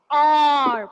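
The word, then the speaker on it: hour: a consonant H, but here the H is silent and it has a vowel sound or. We are not pronouncing H. Have you all noticed? We are pronouncing only R.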